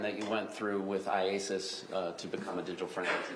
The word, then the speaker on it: IACIS: How do you say it? IASIS. IASIS. All right. I just want to shorten it for today. Yes. All right. So IASIS.